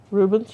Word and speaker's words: Rubens: Rubens, yes.